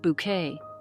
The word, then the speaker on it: Bucket: Yet for many, she was forever highinth bucket, pronounced Bouquet, the proud and prim social climber in the BBC's beloved sitcom Keeping Up Appearances.